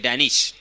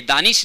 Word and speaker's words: दानिश: Over लेके आए हैं डैनिश। मालूम है वो प्रोनाउंसिएशन देखिए, दानिश नाम है मगर उन्हें ब्रिटिश में जाएंगे, ब्रिटेन में जाएंगे, इंग्लैंड में जाएंगे तो डैनिश कहा जाता है। आदम को एडम कहा जाता है, उस तरह से